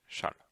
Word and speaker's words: shall: gaffe à la prestation on pourrait avoir envie de le penser autrement mais la bonne prononciation c'est bien ça donc c'est charles alors schalit permet d'exprimer